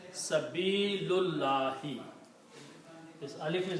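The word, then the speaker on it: سَبِيلِ: And when we combine reading these together we do not pronounce this alif here. We pronounce sabili.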